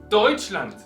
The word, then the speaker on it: Deutschland: Deutschland en la primera. Entonces, sigue la misma regla. Si tenemos una palabra alemana normal y corriente, en este caso pronunciamos siempre, ponemos el acento en la primera sílaba.